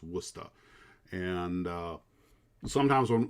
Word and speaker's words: Worcester: in wooster and it's pronounced despite despite that it's spelled war warcester or warchester it's pronounced worcester and uh sometimes when like i used to